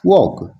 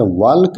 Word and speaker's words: walk: और टहलना का इंग्लिश हो जाएगा वॉक, WALK, वॉक। यहाँ पर वॉल्क नहीं पढ़ेंगे, क्यों? क्योंकि L साइलेंट रहेगा।